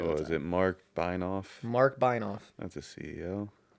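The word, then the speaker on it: Benioff: Mark Beinoff. Yes. Was that German? I don't know. I mean, I pronounce it the German way with the I after the E.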